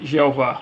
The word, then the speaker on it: Jeová: senhor em letras maiúsculas e pronunciada em português além de Yahoo é como também Javé o e Jeová e esse nome aparece